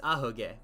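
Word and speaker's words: アホ毛: to the sides guillotine oh oh okay it's aho gay it's ahoke it means um i said it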